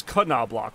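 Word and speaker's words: Knoblauch: garlic in German well last name if pronounced well it's KOB block right because you guys don't do the silent letters even though I swear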